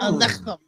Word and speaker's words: Aleichem: Shalom, and it's spelled SHALOM ALEICHEM. Alechem. Right. Shalom alechem. Right.